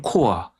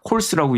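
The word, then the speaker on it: Corps: 유나이티드 스테이트 머린 코아 CORP를 코아라고 읽지 콜스라고 읽지 않거든요.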